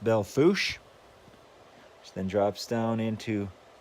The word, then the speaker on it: Belle Fourche: It goes into Belle Fourche, even though it looks like Belle Fourche, it's pronounced Belle Fourche.